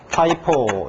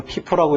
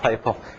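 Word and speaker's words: FIFO: 가정을 해서 처음 다는 게 파이포. 이거 피포라고 읽으면 안 돼요. 파이포.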